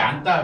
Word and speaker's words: 앉다: 그러니까 요거가 앞에 있는 게 지읒이 발음이 안 되죠. 그래서 안 요렇게 발음이 되는 거야.